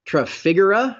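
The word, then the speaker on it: Trafigura: including copper in fact figura I think is how you pronounce never understood how t-r-a-f-i-g-u-r-a biggest commodity trading firm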